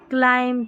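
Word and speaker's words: climb: नियम एमबी एमबी आखिर में रहेगा और बी यहां पर साइलेंट रहेगा। क्लाइम थंब कॉम लैं बम ऐसे पढ़ेंगे हम। हम है ना बी को नहीं पढ़ेंगे।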